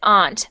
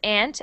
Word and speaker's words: aunt: so aunt like this some people pronounce it aunt but i pronounce it ant and a lot of